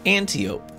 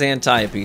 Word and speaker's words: Antiope: call it that's fine but it is a greek word a greek name of a greek character in greek mythology and the pronunciation is antiope so don't don't be